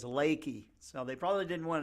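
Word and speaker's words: Leakey: e y Texas but it's pronounced by the locals there as laky so they probably didn't want to live in a town called leaky I don't know uh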